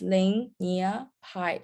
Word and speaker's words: LineaPy: It's LineaPy, that's how you say it. Linea stands for the lineage between code, and Pi stands for Python.